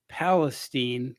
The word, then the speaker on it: Palestine: He went up to, it's pronounced Palestine, but it's spelled Palestine.